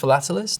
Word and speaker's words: philatelist: don't know about this is it is it's pronounced philatelist and that's a stamp collector because fellatialist sounds